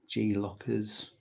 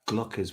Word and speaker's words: Glockers: Lockers. I don't know. Glockers. Let's see if anyone pops up. Not lockers. Glockers with a G.